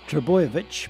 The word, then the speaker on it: Trbojevic: and before you ask it's pronounced triboyevich but it will be